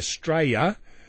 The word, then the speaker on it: Straya: counterparts opinion polls in australa or as we pronounce it here straya that's how you pronounce it by the way